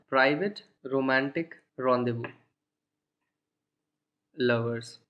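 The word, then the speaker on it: rendezvous: Complex pronunciation है उसकी, because ये वर्ड फ्रेंच से आता है एंड फ्रेंच लैंग्वेज का प्रोनाउंसिएशन बहुत ही डिफरेंट होता है। इसीलिए आप इंग्लिश लैंग्वेज के अगर आप एक्सपीरियंस लगाओगे तो कभी इसको करेक्टली प्रोनाउंस नहीं कर पाओगे। एनीवे इसका प्रोनाउंसिएशन है रॉन्डेवू, एंड रॉन्डेवू का मतलब होता है मीटिंग।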